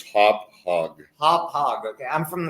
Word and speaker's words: Hauppauge: I did pronounce it right. You're from the East Coast. It's Hauppauge.